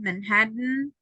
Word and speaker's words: Manhattan: So don't pronounce the vowels. Okay. If you had a vowel, you don't have it doesn't matter if it's letter E, letter O, letter A. The idea is to not pronounce that part. Just Biden, Baden, Garden, Manhattan, and important. It's like if you are omitting a syllable, but that's the best way to pronounce.